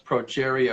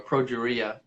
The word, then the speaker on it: progeria: a disease called progeria I think it's pronounced approach area or progeria as in geriatric protein is rapid aging